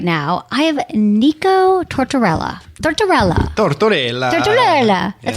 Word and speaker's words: Tortorella: I have Nico Tortorella. Tortorella. That's how you say it, right? That's it. Tortorella.